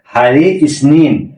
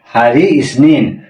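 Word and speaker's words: Hari Isnin: ছিল সপ্তাহের সাত দিনের নাম আবার বলি এর উচ্চারণ কি হবে হারি আহাদ হারি আহাদ হারি ইসনিন হারি ইসনিন হারি সলাসা হারি সেলাসা হারি সলাসা হারি রাবু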